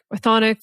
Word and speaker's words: Chthonic: The CH is silent. what? Chthonic or Chthonian.